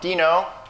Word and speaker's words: Deno: decided before this there's there's a controversy over the pronunciation of this project for some reason I've always been calling it denno but there's RINO and Dino like is why it's a dinosaur logo anyway we're gonna talk